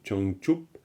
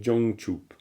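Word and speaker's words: བྱང་ཆུབ: l'on peut dire sur Chang chup et attention à la prononciation hein je crois c'était Stéphane j'ai un peu entendu du Jang chup alors que c'est oh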